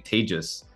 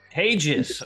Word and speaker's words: Taegis: And I have to correct the pronunciation of our flagship product. It's actually Taegis. Taegis, all right.